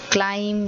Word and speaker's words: climb: See where the B is silent. So you have bomb, you have climb, you have comb.